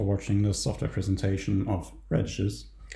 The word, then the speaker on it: RADICES: the software presentation of radishes which is intentionally pronounced this way and also a twitter